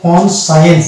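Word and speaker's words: conscience: কন যুক্ত হয়েছে, কনসায়েন্স, এখানে দেখছি এসসি এর পরে হচ্ছে আই, তাহলে এসসি এর পরে ই অথবা আই থাকতে হবে, যে কোনো একটা থাকলে আমরা সি কে সাইলেন্ট করে দেবো, তাহলে এখানে হয়ে গেছে কনসায়েন্স।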